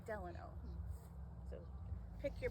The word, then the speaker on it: Delano: It's Delano, or Delano. A lot of people confuse how to say this name, but I think of Franklin Delano Roosevelt, so I say Delano.